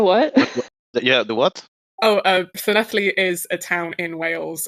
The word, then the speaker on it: Llanelli: It's pronounced Llanelli. Okay. If you say so. I'm not good with languages. Double L is Double L is pronounced. You kind of push your tongue against your teeth and blow through it, kind of pronouncing a sound, and that's how double L is pronounced in Welsh.